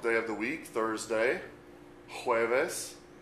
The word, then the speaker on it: jueves: Notice the J makes a H sound, as in a word like Jose, J-O-S-E, Jose. You may be familiar with a name like Jose or Juan. Juan is J-U-A-N. So jueves, J-U-E-V-E-S.